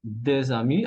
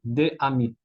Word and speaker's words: des amis: Des amis, como aquí entre corchetes, la fonética de des amis aparece una Z, ¿no? Que se conecta con la A, crea una nueva sílaba, ¿eh? Y las dos palabras, bueno, el artículo de y ami forman solo una sola palabra, des amis, ¿ok? Jamás escucharán un nativo decir de ami, a leer y a pronunciar, ¿ok?